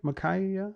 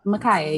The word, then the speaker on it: Micaiah: Micaiah? Micaiah, you said it right.